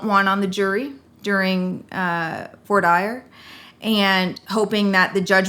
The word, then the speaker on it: voir dire: So is that how you focus your voir dire, or as we mispronounce it in Texas, voir dire?